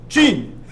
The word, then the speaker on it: Qin: this state Qin and that is pronounced Gene like what's right below your mouth uh so China is in a period of chaos during the late Warring States period this is 260.